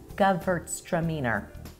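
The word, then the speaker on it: Gewürztraminer: the second thing here it is really slowly GT stramer there you go not as hard as it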